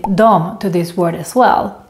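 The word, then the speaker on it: dem: the word them most people would just say Dom to this word as well for example for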